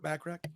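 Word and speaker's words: Bachrach: Bacharach? Burt Bacharach. Like Burt Bacharach.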